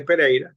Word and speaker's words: Pereira: my name is Pera so uh James tried to pronounce it well but he did his best but my name is pera pera is a Portuguese last name that I'm Venezuelan born